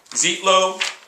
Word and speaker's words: Zitlo: Zitlo, I took the hard E, Z-E-E-T, and then the hard O, low.